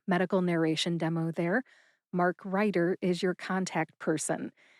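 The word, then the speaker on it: Reiter: Mark Ryder is your contact person. That's Mark Writer. R E I T E R Writer.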